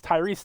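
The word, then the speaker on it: Tyrice: I've been saying his name wrong the whole time. It's Tyrese Knight, and 3 for D-Law.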